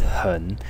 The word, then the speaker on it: 很: As you can see, its pronunciation is gun, and the character as a whole is pronounced Hen. So this final cluster, en,